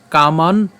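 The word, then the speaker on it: কামান্: থেকে খেয়াল করি উচ্চারণটা কেমন হচ্ছে বিহায় ঠিক আছে বিহায় এরপর কামান ইয় এখানে কামান কেন উচ্চারণ করলাম এখানে হস চিহ্ন আছে আর হস চিহ্ন আছে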